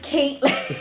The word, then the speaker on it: Kathlynn: And I'd be like, okay, I know it's spelled like Kathlyn, but it's Caitlin.